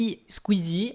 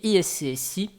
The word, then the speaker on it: iSCSI: Alors, normalement, peut-être que vous avez déjà entendu parler de Squeezie et iSqueezie. Voilà, moi je dis ISCSI. Donc il faudra juste vous habituer à ce que je prononce toutes les lettres du concept.